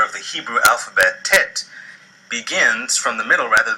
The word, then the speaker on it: teth: These days, readers and speakers of Hebrew tend to pronounce this letter like the letter T in telephone. Originally, however, this letter was almost certainly pronounced like a T with the back of the throat, or pharynx, being constricted, as in the Arabic letter ta.